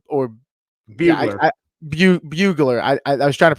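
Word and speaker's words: Brugler: And Ray Davis, Dane Bueller or Bugler. Bugler. I was trying to pronounce it right.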